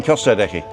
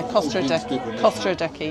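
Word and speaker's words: Costa Adeje: you mean Costa Decky, not the town of Decky. No, not the town. Oh, okay. Yeah, Costa Adeki, yeah.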